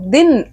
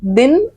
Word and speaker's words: दीन: இதே சவுண்ட்ல வரும், ஆனா தப்பா ப்ரொனவுன்ஸ் பண்ணிட்டீங்கன்னா அர்த்தமே மாறிடும். தின் தீன் அப்படின்னு வரும். தீன் அப்படின்னா ஹம்பிள், பண்புள்ள, தாழ்மையான, தன்மையான அப்படிங்கிற பொருள் வரும். वो बहुत दीन इंसान है. இங்க தீனுக்கு பதிலா தின் சொல்லிடாதீங்க, ஏன்னா தின்னா பகல் இல்லைன்னா ஒரு நாள்.